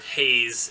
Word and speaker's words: HAES: those that don't know hes or Haze is it's you know typically pronounced um basically refers to